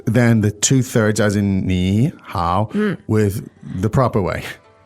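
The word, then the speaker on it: 你好: pronounce them actually okay so when you put the two3 together it would sound very labored wouldn't it it would say and yeah there is almost impossibility to pronounce two distinct third tones uh without breaking them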